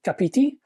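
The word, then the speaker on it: Kāpiti: the way from the capiti coast I think it's pronounced capiti of New Zealand behold folks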